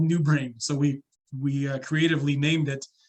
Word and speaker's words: NeuBrn: Yeah, and it's called New Brain. So we creatively named it, but it's not spelled new. It's spelled NEUBRN. So new as in French, NEU, and then BRN for brain.